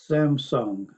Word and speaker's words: Samsung: 삼성을 샘성이라고 발음합니다. 별 3개를 뜻하는 삼성, 해외에선 이 회장처럼 Samsung. 해야 더 잘 통합니다.